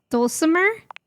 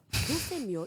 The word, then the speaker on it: Dulce Mio: Is that Dulcimer? No. Oh. Dulce Mio is completely different pronunciation, spelling, and comportment.